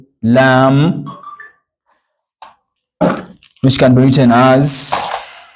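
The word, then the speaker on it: لام: then we have the other one called lamb which can be written as L this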